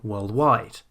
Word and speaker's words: worldwide: So instead of saying worldwide, we say worldwide. And instead of saying world leader, we say world leader.